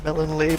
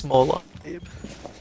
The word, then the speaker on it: Molon Labe: I just read through chat, and apparently we are pronouncing Melon Labe wrong. Is it Molon Labe? I think it's Molon Labe.